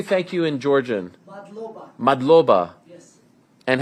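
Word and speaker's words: მადლობა: do you say thank you in georan MOBA madloba yes and how do you say good luck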